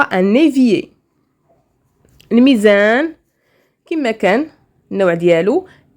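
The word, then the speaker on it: un évier: ايفيي مي جاي مع لا ليزون كنطقوها ان ايفيي.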